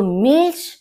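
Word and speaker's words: Milch: यानी मिल्क दूध तो यहां पर देखिए सी एच श होता है तो मिल्स मिल्क वासर वासर यानी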